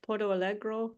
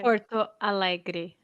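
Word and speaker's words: Porto Alegre: say it wrong Porto Porto algro did I say that right Barbara Porto algro yeah okay Porto Allegre Allegre sorry Porto Al and um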